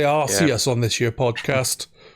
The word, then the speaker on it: Arceus: You say Arceus on this year podcast. I think it's Arceus, but no, we say Arceus. I say arse ears. Like ears on your ass.